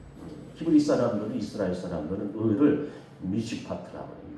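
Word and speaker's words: משפט: 의인, 히브리 사람들은, 이스라엘 사람들은 의를 미시파트라고 해요. 미시파트. 따라해 보시겠어요? 미시파트. 율법적인 의예요. 저 서초당 앞에 가면 얼마나 변호사, 판검사들이 많아요. 법은요, 사람은 올가매요. 얕잡았잖아요. 사정없이 올가매잖아요. 율법적인 거예요. 정의. 미슈파트예요.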